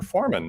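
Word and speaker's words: Forman: It's Foreman, no E in Foreman. Yep. Rhymes with Dorman.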